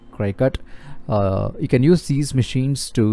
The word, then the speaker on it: Cricut: You can print these using Cricut machines like this one, or Cricut, I don't know how you pronounce it, but let me say Cricut.